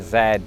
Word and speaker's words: Z: Now, I can get away with saying Z because I've lived here for 17 years and I'm a citizen now. But in my former life, the last letter of the alphabet would have been zed.